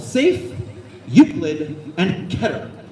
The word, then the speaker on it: Keter: And so the original three are called safe, Uklid, and Keter. And if you say keater, I will throw a sticker at you. It does not rhyme with keater.